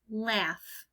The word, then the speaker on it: laughs: it in the word laughs so now we have all ah I hear at the end of laughs it's not a letter F like we usually think it's actually G H the G